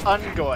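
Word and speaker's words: Unggoy: They're also known as Ungoy. Don't care! Grunts! Rhymes with sex toy.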